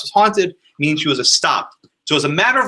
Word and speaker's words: estopped: So the word that Catherine used, estopped. Anyone ever heard the word estopped? Estopped is a verb which means it's spelled like this. It's like stopped.